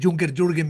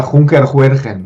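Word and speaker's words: Junkerjürgen: mejor que la media en España, porque es Bu- un nombre muy complicado, sobre todo si ves cómo se escribe con la J y la G, daría Juncker Juergen y suena muy mal.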